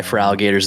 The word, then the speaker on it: Feraligatr: Feraligatr's the goat. Feraligatr. I I never figured out how to pronounce it cuz it's like they cut out the R on the end.